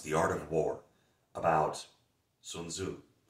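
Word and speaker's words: Sun Tzu: Art of War about sunzu or sunza the proper pronunciation I stand alone and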